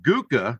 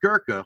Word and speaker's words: Gurkha: a shirt that said friends don't let friends smoke guka not girka we didn't spell it that way and anyway uh